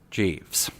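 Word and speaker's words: Guyves: it's Jeeves no really my name is Jeeves g-u-y-v-e-s pronounced Jeeves what it's a name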